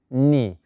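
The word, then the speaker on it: knee: rodilla muy fácil era un poquito rara la pronunciación no teníamos que pronunciar una letra se acuerdan recuerdan cómo se dice eso vamos a verlo nuevamente rodilla en inglés se dice ni no vayamos a pronunciar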